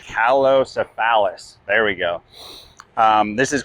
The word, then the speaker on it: Calocephalus: This is let me pronounce this correct. Calocephalus.